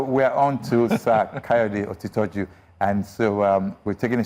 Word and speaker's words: Otitoju: Otitoju or Otitoju? Don't worry. No, I worry. Okay. Because we were trained. Otitoju. Otito means truth. Ju means supreme. So Otitoju. Truth. Otitoju means truth is supreme.